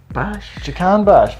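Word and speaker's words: Jahanbakhsh: Now, do you want to pronounce their big money signing this year from Alkmaar? Jacan Bash. Very good, Paul Merson. You've done that. Yes, Jahan Bash got about, I think it's over 20 goals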